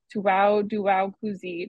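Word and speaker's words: 脱裤子: sites and exfiltrating their data Library dragging is pronounced Tu dong kuu and its homophone Tu daow kuzi translates to trouser removal or to take off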